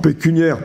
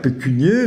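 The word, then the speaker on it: pécuniaire: et et un héros alors pécuniare pécunier donc il faut juste se souvenir bon que ça vient du latin pécunia donc qui est l'argent et que par conséquent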